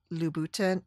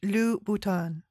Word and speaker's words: Louboutin: and with brands like Christian Louboutin. Oh, I'm saying it wrong. Christian Louboutin, Paul Smith, and Nike.